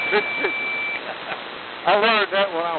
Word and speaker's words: Mississippi: Notice I know how to say Mississippi. Not an extra syllable, man. Mississippi.